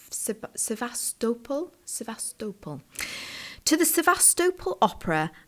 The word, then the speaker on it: Sevastopol: to the sasta now I always pronounce that incorrectly I think it's sevastopol sevastopol to the sevastopol